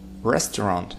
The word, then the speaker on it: restaurant: Restaurant. Restaurant. Restaurant. Restaurant. Первый слог.